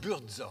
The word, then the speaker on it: Buurtzorg: Buurtzorg, voilà. Ça veut dire quelque chose? Ça s'écrit comme ça se prononce. Buurtzorg. Ça veut dire, alors là je le prononce en français mais les Hollandais le prononcent différemment.